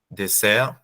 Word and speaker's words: dessert: You've noticed, I think, that we don't pronounce the last letters, plat, dessert. And then once you are facing this, you can make a choice.